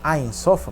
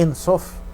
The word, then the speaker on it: En Sof: Ele disse assim, eu observei, lendo algumas coisas, que aquele conceito da Cabala do En Sof, que o pessoal diz Ein Sof, a pronúncia certa é En Sof, o infinito, né?